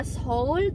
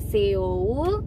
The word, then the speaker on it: Seoul: ini kayak baca houl kota Soul tulisannya esok Tapi bacanya bukan kota Seoul Tapi bacanya soul soul ya berikutnya adalah Yoon